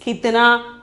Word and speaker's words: कितना: Pronunciation is कितना.